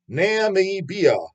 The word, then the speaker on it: Namibia: Nam holy Nami can't you pronounce this goddamn country Namibia n m i b i a don't know